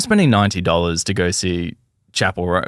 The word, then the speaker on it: Chappell: I was just calling her Chappelle Roan for like 3 years, and then she blew up, and I found out I've been saying it wrong for 3 years.